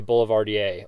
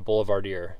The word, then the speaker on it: Boulevardier: That is called a Boulevardier, or a Boulevardier, depending on how you want to pronounce it.